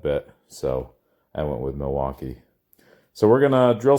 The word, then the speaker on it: Milwaukee: In fact, isn't Milwaukee an Indian name? Yes, Pete, it is. Actually, it's pronounced Milwaukee, which is Algonquin for the good land.